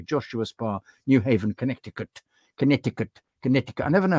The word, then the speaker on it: Connecticut: Connecticut. I never know how you pronounce Connecticut. Is it is the C sort of silent as in Wimbledon?